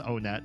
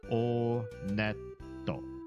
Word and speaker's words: Onet: It is pronounced Onet. I did check the Japanese pronunciation. And in Japanese, when you go to this first town, they pronounce it Oneto. Oneto. So, Onet. Okay, this part's gross.